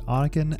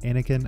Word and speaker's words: Anniken: It is Anniken, not Anniken. I was thinking Star Wars.